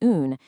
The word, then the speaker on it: une: The masculine un has a short nasal sound, while the feminine une has a rounded distinct oo sound followed by a soft n.